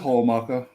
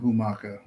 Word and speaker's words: Homaka: So Humaka, is it Humaka 78 on Twitch? Or No, it's just Homaka. Homaka. Yeah, HOO. Yeah, everybody pronounces it Humaka.